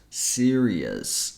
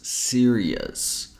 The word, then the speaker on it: serious: and this one Sirus has three syllables serious serious the first word be